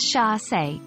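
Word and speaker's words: chassé: capturing a graceful Pursuit getting the pronunciation right is crucial especially since it's a French word chass is pronounced as Sha now let's see how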